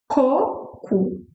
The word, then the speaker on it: coco: So the first sound is ko-ku. You end with u sound, ko-ku. Ko-ku. So open your mouth a little, ko-ku. Coconut, ko-ku.